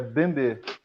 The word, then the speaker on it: Mbembe: Bembe, eu assumo a pronúncia francesa, que é Bembe. Bembe. Acho, por uma questão assim, porque ele, por ser camaronês, ele também fala francês, né?